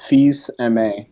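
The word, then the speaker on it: Fils-Aimé: some gaming news Reggie fils-aime is too entire how do you say it can I go it's French its fees MA there we go alright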